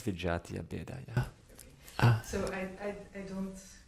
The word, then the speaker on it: vijatiya bheda: The Vitaya Beda. Am I saying it right? That it's under the group of Vitaya Beda? That's Vijatiya Beda, yeah.